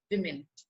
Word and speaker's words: women: Okay, so he finally located that book, American Women. And it is, the pronunciation of this word is women. Okay, if it is singular, we pronounce it woman. But if it is plural, we pronounce it women.